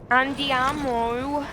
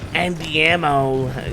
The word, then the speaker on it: andiamo: It's like you're saying with an I instead of a Y.